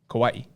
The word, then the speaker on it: Kauai: say kawaii as opposed to hawaii it's kawaii kauai kawaii as opposed to hawaii no it's no